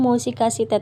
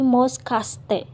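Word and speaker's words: もしかして: kita bisa sandingkan dengan mosikasite. Ini dibacanya bukan mosikasite tetapi moskaste.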